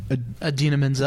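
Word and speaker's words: Idina Menzel: Adina Menzel.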